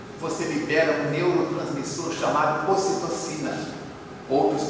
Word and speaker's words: ocitocina: área do êxtase, você libera um neurotransmissor chamado ocitocina, outros pronunciam ocitoxina, que libera uma carga de energia muito grande.